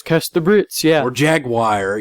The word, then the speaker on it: Jaguar: Or Jaguar. You ever notice how some people say Jaguar? Some people say Jaguar. Yeah. Like why? Jaguar. Yeah, that's another one. That's too many syllables.